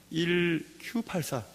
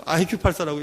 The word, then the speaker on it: 1Q84: 1Q84. 그래서 1Q라고 생각하지 않고 IQ84라고 읽는 사람도 있어 그랬는데, 1Q, Q는 일본말로 9가 Q라고 발음이 비슷하다면서요.